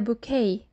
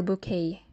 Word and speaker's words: bouquet: speeches this is a bouquet it's a french word so we don't pronounce the letter t this is a bridal bouquet or a wedding bouquet